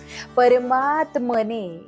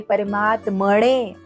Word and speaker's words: परमात्मने: दीर्घ उच्चार करायचा आहे परमात्मने यामध्ये परमात्मणे असं नाही म्हणायचं इथे नळाचा आहे